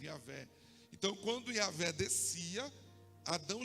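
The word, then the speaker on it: Javé: era Deus né yé Y H w o nome pronunciava yavé então quando yavé descia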